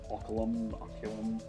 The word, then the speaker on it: Oculum: Oculum. That's the correct word.